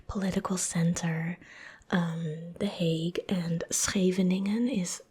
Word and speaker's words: Scheveningen: So the next one, and I've heard like foreigners or like non-Dutch speaking people make the craziest pronunciations of this one, to the point where they almost said a word that you cannot say. But it sounded pretty close. So this is called Scheveningen. Scheveningen.